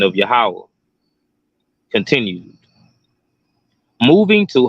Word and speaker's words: Yahweh: We see utilized to spell the Father's name, the Yah, Ha, Wah, Ha characters, which spell Yahweh, and would be pronounced Yahweh.